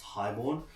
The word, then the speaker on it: HIGHXBORN: You can see it's called uh Highborn. I know it reads as High Xorn, but it's actually pronounced Highborn.